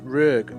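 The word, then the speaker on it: Rüegg: It is pronounced Rög, by the way. My beautiful wife has looked it up. She's the German expert, although he's not German, he's Swiss, but it is pronounced Rög. Can we buy him yet?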